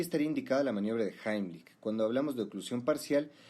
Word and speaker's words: Heimlich: vídeo la maniobra de heimlich que por cierto esa es la pronunciación correcta porque está en alemán la mayoría dice heimlich pero bueno se entiende